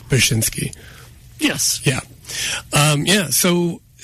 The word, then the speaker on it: Bachynski: our new mayor Chad bachinsky whoa I don't think I pronounced his name right bashinsky yes yeah um yeah